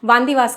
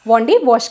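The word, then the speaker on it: Vandavasi: वंदी वंदी वास ओके तमिलनाडु के जो लोग थे उसको वंदी वास कहते थे लेकिन आपको पता ही है कि यूरोपिय ये प्रोनाउंस नहीं कर पाते थे इसलिए इसे वांडी वॉश कहते थे ओके और इसमें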